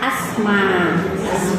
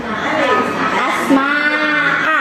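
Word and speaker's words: أسماء: Jadi ejaan bahasa Arab nama alif, sin, mim, alif, terus aya curekan a. Upami janten kana bahasa urang mah asma. Jadi jika teu aya alifannya. Ada soalna kagok lamun nyebutkeun dina ejaan urang asma'a atau napi asma'u janten asa teu pantes gitu. Maka dengan ejaan urang mah ke kalimat asma.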